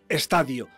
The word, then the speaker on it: estadio: su mentor televisivo la única acentuación correcta de esta palabra es estadio también cuando significa periodo etapa fase o proceso es incorrecta a pesar de ser frecuente sobre todo en ámbitos agronómicos la pronunciación con hiato de estadio pero si tanto os